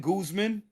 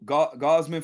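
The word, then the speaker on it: Gausman: I like Kevin Guzman. Um, or Gossman, whatever y'all want. You know, you correcting my pronunciations and So, Gossman for the for the You just said the name right.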